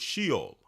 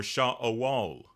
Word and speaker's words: Sheol: That word Sheol or Shaol as we would pronounce it, that word can be